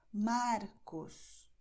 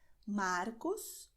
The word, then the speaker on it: Marcos: Portanto, em português, você dirá Marcos, Mário, Murilo, André, ok? E esse é o som. Você não expulsa o ar. Você simplesmente pega a pontinha da sua língua e você toca os dentes.